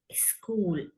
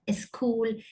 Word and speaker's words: school: Don't add an extra vowel at the start or in the middle. So wrong, school, speaker, soundல start ஆகுதுன்னா இதை pronounce பண்ணணும். Speaker, school, not a school, a speaker, that's wrong, right?